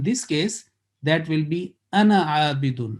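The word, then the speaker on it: أنا عابد: When you pronounce together as a combining in a recitation, it will be ana abidun. Ana abidun. Alif is written, but it is not pronounced.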